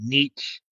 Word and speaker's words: Nietzsche: Nietzsche, pronounced Nietzsche, was a philosopher who was super depressing at times.